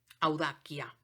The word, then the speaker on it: audacia: Por ejemplo, audacia, ¿sí?